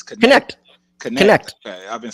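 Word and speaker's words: Knecht: And then also Dalton, like how you say his name, I've been saying Necht. It's Connect.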